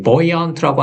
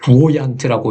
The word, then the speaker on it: buoyant: 자, 이 buoyant라고 하는 거 이제 뭐 buoyant라고 읽기 쉬운데 이제 B는 거의 뭐 소리가 잘 안 난다고 보셔도 될 것 같고 이제 발음이 이제 발음